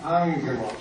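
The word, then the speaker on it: ἄγγελος: Let's say the first word, angelos. 第一个字， Notice with the two gamma, the first is like an ng, angelos. It's not angelos, but with two G's. First gamma is ang with an ng, angelos. Explain one more time.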